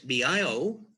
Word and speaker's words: Biocybernaut: That's BIOCYBERNAUT, rhymes with astronaut.